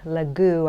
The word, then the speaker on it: Lague: work his name is Mark lagu I think is how you pronounce it L A gue this is one of